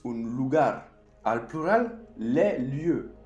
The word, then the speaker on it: lieux: Al plural, les lieux. Se dice de la misma manera. Otra vez, la marca del plural no se pronuncia.